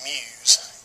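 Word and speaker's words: µEZ: Studies have shown that the micro easy pronounced Muse gooey family from future designsday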